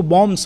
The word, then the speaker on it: bombs: इसमें BOMB होता है, BOMBS होता है, लेकिन इसको बॉम्ब्स बोलते हैं। बी जो है इसमें साइलेंट होता है।